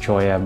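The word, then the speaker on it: cholla: area including the Troya cactus garden apparently it's pronounced choya but I think Chala sounds better the choya cactus are some of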